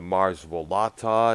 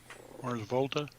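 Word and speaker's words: The Mars Volta: He also did for some of the bands like Muse, the Mars Volata. I think that's how that band is pronounced here and there. Mars Volta.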